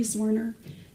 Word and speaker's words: Zwerner: Uh, can you state your name, please, for the jury and then spell it for the court reporter, please? Sure. Zorner.